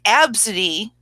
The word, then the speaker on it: Abcde: just heard it because if you heard absidy you probably wouldn't think ABCDE E before I even